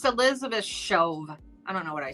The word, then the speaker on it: Shoaf: It's Elizabeth Shove. I don't know what I said. It's like SHAOF. It's spelled SHOAF. Oh. But it's spelled, or it sounds Shove. All right.